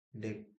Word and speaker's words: deque: The queue diucapkan DEQ atau antrian berujung ganda.